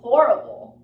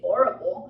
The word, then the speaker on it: horrible: that song was really horrible right again I'm taking oral I say horrible so this means really